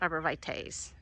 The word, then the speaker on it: arborvitae: It's not T-E-E, even though it's pronounced T-E, but why didn't they just spell it that way?